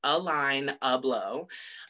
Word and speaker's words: Alaina Blow: hi my name is alaina blow pronounced a line a blow and i am from